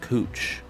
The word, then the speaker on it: Couch: street that's called couch well at least it's spelled couch but it's actually pronounced cooch so it's uh it's